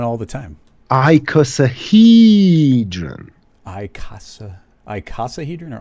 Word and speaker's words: icosahedron: that shabby that's a way cooler word than icosahedron too yeah well you didn't say it properly but i'm not gonna well what's the proper way i say that one all the time i casa i casahedron all right yep so i call got it